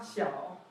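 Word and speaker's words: 小: And it's pronounced? So we have da, xiao.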